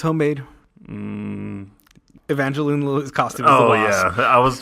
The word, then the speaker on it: Evangeline Lilly: Evangelina Lilly? Is that Evangeline Lilly?